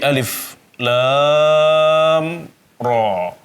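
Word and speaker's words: الٓر: Ra dibaca 2 harakat karena dia adalah termasuk al-mad at-tabi'i al-harfi. Mad tabi'i berupa huruf. Dan ra ini dibacanya tanpa hamzah di belakangnya. Jadi alif lam ra. Pendek ya, tanpa ada hamzah mati di belakangnya.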